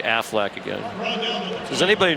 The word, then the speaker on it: Aflac: staple in college football Aflac Affleck Aflac in case I miss one next week I want you to say it like the Ducks Pittsburgh Wake Forest two